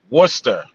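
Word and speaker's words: Worcester: Oh, you see that's how they pronounce it. Say it again. Worester.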